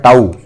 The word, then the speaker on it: tau: ठीक है, टॉर्क यानी, ये टॉर्क यानी क्या होता है बताता हूं, इसका प्रोनाउंसिएशन होता है टाउ, TAU।